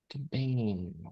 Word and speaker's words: campaign: Campaign without the ch at the end, right?